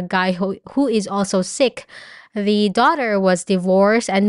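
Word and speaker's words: Sikh: of the episodes there was there was a sick family which is like I think it's a religion in India it's spelled s i k h and the dad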